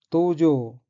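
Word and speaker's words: 道場: 첫째 줄의 어휘는 한자가 한국어로 도장이고 각기 길도자와 마당장자이고 일본어로는 도우조라고 읽으며 도우조는 도량, 도장, 수련장을 뜻합니다.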